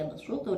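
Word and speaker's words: يبسط: Sin basoh begitu juga lafaz yabsutu tulisannya yabsutu dengan Shad tapi ketika membacanya dengan Sin yabsutu pada Surah atur lafal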